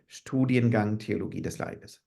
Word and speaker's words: Studiengang Theologie des Leibes: Studiengang Theologie des Leibes. Studiengang Theologie des Leibes.